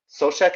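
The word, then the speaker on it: Souček: de bruyne is um i think suck is or uh i think it's pronounced sosek sochek is a um another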